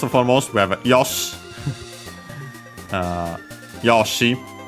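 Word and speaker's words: よし: Yoshi. The accent is on the first more regardless of the yo.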